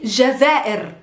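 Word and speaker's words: الجزائر: but it works next we have the country jazeer can you guess what is jazeera is algeria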